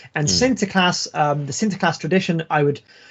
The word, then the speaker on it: Sinterklaas: called Sinterklaas, and so my Dutch pronunciation is not very good, obviously. Sinterklaas, right? And of course, you can already hear when I say that it sounds very similar to Santa Claus. Santa Claus is just the anglicized version, right? It's the anglicized pronunciation of Sinterklaas, and Sinterklaas itself means